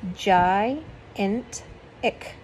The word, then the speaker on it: gigantic: temples these temples had gigantic that's the way it is spelled it means jai int ik columns and pillars ordinary